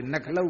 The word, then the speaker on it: लखनऊ: ब्रजवासी लखनऊ नहीं बोलते, नखलऊ बोलते हैं। किसी पुराने ब्रजवासी से सुनो, लखनऊ बोले नहीं, पर नखलऊ, लखनऊ नहीं कहेंगे, नखलऊ कहेंगे।